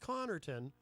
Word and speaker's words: Connarton: Well, sort of, because it's pronounced Connarton. So the most common misspelling of my last name is Connerton. People replace the A with an E because it sounds like that.